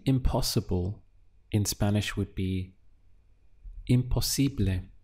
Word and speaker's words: imposible: To say impossible in Spanish would be imposible. Let's look at the syllables again. We have im, po, si, ble. Imposible.